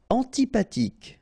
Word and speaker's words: antipathique: Antipathique. So remember this H doesn't exist phonetically, so antipathique.